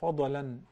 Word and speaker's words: فضلا: So we say Fadlan. The Dad is not one of the 5 letters which we do qalqala to them. No. The Dad is different. So once it has sukoon or jazm, in your language you call it jazm, صح? Okay. Yeah. You gotta apply sukoon. So you do not say fadlan. No, you say fadlan.